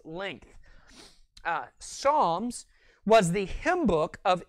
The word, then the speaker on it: Psalm: When pronouncing and referencing the book of Psalms, you need to remember that you're referencing a hymn book. Therefore, you don't say, turn to Psalms 23. No, it's Psalm 23, or the 23rd Psalm.